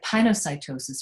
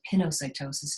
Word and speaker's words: pinocytosis: right um we have pinocytosis or pinocytosis it doesn't matter to me how you say it tomato tomato um but here it's just